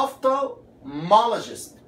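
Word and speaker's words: ophthalmologist: الاتش مش بتنطق والال ما تدوس عليها فتبقى اوف تومولوجيست.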